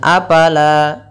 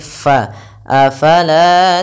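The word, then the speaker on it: أفلا: kitab kemudian Afala taqilun hati-hati dalam melafalkan Fa Jangan dibaca dengan apala apala Enggak dia bukan pa tapi faala taqilun la panjangkan dua harakat kemudian taqilun Ain sifat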